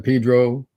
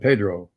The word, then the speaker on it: Pedro: We say San Pedro, and we say. Why do they do that? Just to be annoying? It's just an old way of pronouncing Spanish words that got stuck in.